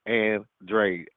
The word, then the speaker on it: Andrade: His name is Andrade.